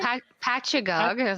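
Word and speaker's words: Poughkeepsie: on November 13th um I cannot pronounce that word paog is how I've been told it said paog New York on November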